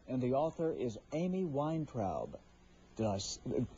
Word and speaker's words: Weintraub: The book is called Yoga for Depression, and the author is Amy Weintraub. Did I pronounce that correctly?